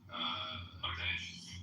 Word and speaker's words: Bangladesh: So it's pronounced heterogeneous, and it's pronounced Bangladesh.